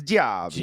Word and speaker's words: Gio-B: yeah, it's that Italian. You got to say it like you have an attitude. It's Gio-B.